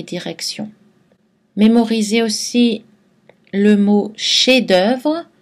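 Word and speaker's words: chef-d'œuvre: mémoriser aussi le mot chef-d'oeuvre dont on ne prononce pas le f finale mais qu'on prononce dans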